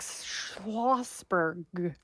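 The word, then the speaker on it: Schlossberg: been dropped on his head and it's Jack schosberg yes am I saying it right I believe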